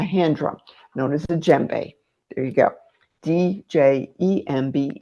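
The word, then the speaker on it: djembe: A hand drum known as a jbe. There you go. Dj MB is how it's spelled. You don't pronounce the D.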